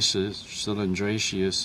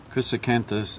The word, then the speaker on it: chrysanthus: that I've been growing I always get this name wrong it's not cylindra cylindrus it's um very Cactus uh Chris canthus chrysanthus is a small barel